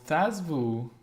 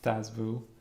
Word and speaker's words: Thazvu: Yeah, well, Thazvu, I think that is the way it should be pronounced, Thazvu.